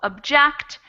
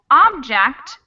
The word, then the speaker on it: object: the ones we've talked about, the verb version gets the stress in the second syllable. It's object, subject, and produce. Versus the noun or the adjective version will be object, subject, and produce. So they get the stress in the beginning of the word.